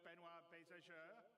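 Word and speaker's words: Benoit Beaugeard: And without me waffling on, I'd like to bring CIG's CTO, Benoit Bézageur.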